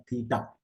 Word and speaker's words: theta: Given sec theta, theta means this is written as THEITA और you can write theta. ये इस तरह से प्रोनाउंस होता है थीटा.